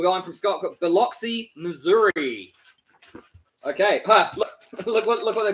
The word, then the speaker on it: Biloxi: More specifically, the Gulf Coast city of Biloxi, pronounced Biloxi. Oh. Which is about an hour or so. Biloxi, east. Pronounced Biloxi.